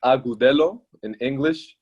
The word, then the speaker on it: Agudelo: gonna butcher it so so in spanish it's agudelo cool and then eric